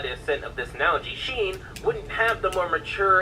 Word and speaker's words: Sheen: His name rhymes with bean. Lastly, within the second Jimmy Timmy Power Hour, there's a scene of Libby playing Ultra Lord, suggesting that she eventually came around to Sheen's interests.